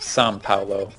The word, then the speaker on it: São Paulo: a lot of times the OA sound is more like like it has that sort of tongue-ish nasal N sound.